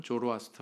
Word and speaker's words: 조로아스터: 신전이 있습니다 조로아스터 격 영어로 발음하면 조로아스터 라 그러구요 우리나라 발음으로는 한글 발음으로 는 자라 투 스 트 라 가 맞습니다 짜라투스트라는 이렇게 말했다 뭐